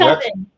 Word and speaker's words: Coven: I think most people see Cove. And so I like to think about it's an oven, not an oven.